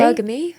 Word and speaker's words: hypergamy: Hypergamy, is that how you say it properly? Hypergamy.